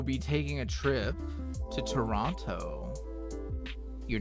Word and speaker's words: Toronto: Yeah, I'm pretty sure it's okay to say Toronto, but Jackie has told me that you don't pronounce the second T.